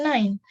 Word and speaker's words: nein: Di sini tulisannya nein in bahasa, cuman kita bacanya nine, like nine number in English.